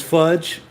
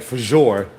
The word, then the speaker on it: Fajr: Her name is Fudge. Fajr. Weird name to be pronounced fudge when it looks like Fajor. like RaJuR, but it's FAJR.